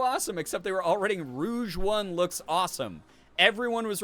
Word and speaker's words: Rouge: like really close spellings Rogue and Rouge Rouge which means red based in French and then Rogue which you know is just Rogue and so when the